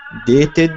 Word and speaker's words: dated: pronounced okay um the verb date ends with e letter which is silence letter so actually in pronouncing it it ends with t which is special ending so we add the sound d uh to be dated uh the second verb